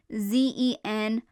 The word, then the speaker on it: Zenythe: So instead of Zenith, he was Zenythe. So yep, same pronunciation. The E at the end is silent, and there's a Y in there now.